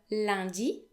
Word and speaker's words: lundi: We also have L comme lundi, L comme lundi. The letters U and N, when they occur together in French, are often pronounced un. Un. So they make a new vowel sound.